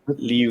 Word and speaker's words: Liuzzo: I would have said it's Italian, and I would get like Luzzo, like that. Luzzo. Oh, I'm again. This is again my failure of not having another computer. So the Americans say Liuzzo. This is her as an adult.